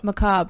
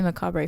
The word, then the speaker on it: macabre: do you say that McCobb sorry McCobb bolivian tradition of Day of the Dead I never I always say macabre a for whatever reason and then I realized oh it's not how he